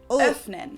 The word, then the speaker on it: öffnen: it in words like öffnen, to open, Öffnen. or können. Können. Overall, the Ö umlaut is kind of similar to Öffnen. the sound that you make when saying words like flirt in English.